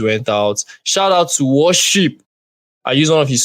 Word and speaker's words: Warsheep: want to sleep on by worship the worship is spelled w a r s h e e p can you hear it